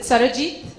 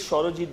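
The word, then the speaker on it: Sarojit: Is it Sarajit? It is Shorojit, but Shorojit. Okay, it's the Bengali way of saying.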